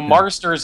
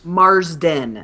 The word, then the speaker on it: Marsden: marsten what's his name Mar Marsters is the guyers Marsden Marsden Marsden all right let's just